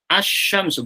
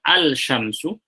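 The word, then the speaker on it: الشمس: Asy-syamsu, bukan al-syamsu.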